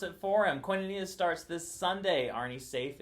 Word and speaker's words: koinonia: it right he can't pronounce koinonia so we'll pronounce it for him koinonia starts this sunday arnie safe is leading it